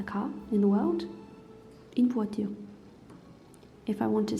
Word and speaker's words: voiture: car, just a car in the world, une voiture. If I want to say the car, well, I mean this car in particular, it's la voiture. Et voiture, il est wa, ici. Wa, ture, voiture.